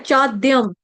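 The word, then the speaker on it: चाद्यं: आघात आया है। तो आघात किसका लगाना है? आधे द का लगाना है। क्योंकि द विद्या वाला जो है वो आपका जोड़ा अक्षर है वो बनता है आधा द और य से मिलकर।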